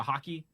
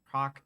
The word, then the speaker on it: Hockey: creams and Hawk uh hockey Hawk hi why I can never pronounce his name because I always want to say Hawk I I am like 99% sure it is hockey hockey okay uh with